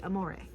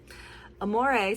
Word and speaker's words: Amore: This year I have learned that her name is actually Amore. Amore, spelled like amour, like love, I've set her timeline back a little bit.